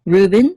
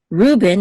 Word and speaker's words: Reuben: it's instead of Reuben in English um in English I guess usually default is the accent mark is on on the first syllable in Hebrew the default is the accent mark is on the last syllable however there's exceptions um